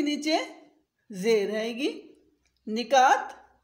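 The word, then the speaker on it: نکات: निकात, न के नीचे ज़ेर है।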